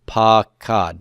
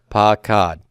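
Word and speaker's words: פָּקַד: So I'm going to have my 3 root letters, and it's got a long A under root 1 followed by a short A. So it's pakad. Say that with me. Pakad.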